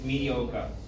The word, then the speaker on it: mediocre: at the British English oh it's mediocre mediocre we don't pronounce the art media right okay the next